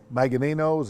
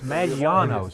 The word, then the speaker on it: Maggiano's: Now that's to a variety of restaurants in the area, Chili's, Maganino's, is that pronounce that right, Ben? I just Ben about that. I think it's Maggiano's.